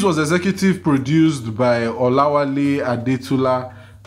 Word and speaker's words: Adetula: The series was executive produced by Olawale Adetula. Nico, pronounce A-D-E-T-U-L-A. A-D-E-T-U-L-A. Adetula. A-D-D-D. Yes, dog. T-U-L-A. Yes. Yes. Yoruba. I'm recording. Yes. There's no word like Adetula, but that's his surname.